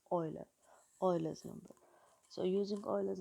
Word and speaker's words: Euler: is called e u ER s and it's pronounced Euler Euler's number so using Euler's number gives us